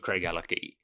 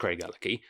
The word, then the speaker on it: Craigellachie: I think it's pronounced Craigellachie, but I have been told that locals call it Craigellachie, but I think I might be having my leg pulled on that one.